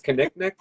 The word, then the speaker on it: Kinnick: So By that's the my way, thank you for clarifying how to pronounce their name because I oh screw it up every time. So it's Kinnick, Kinnick, yeah, a Kinnick.